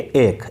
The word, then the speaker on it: ache: ये इरेक आपको दिख रहा होगा लेकिन इसकी प्रोनाउंसिएशन होती है एक.